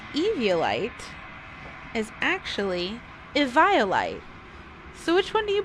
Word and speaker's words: Eviolite: And apparently the proper way to pronounce Eviolite is actually Eviolite.